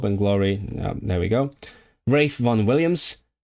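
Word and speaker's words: Ralph Vaughan Williams: Rafe von Williams. When you know you're a musician when you can pronounce Rafe Von Williams correctly, also pretty much the same period.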